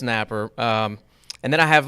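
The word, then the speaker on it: Nappier: you actually pronounce that Napper like there is no I Napper and that's just how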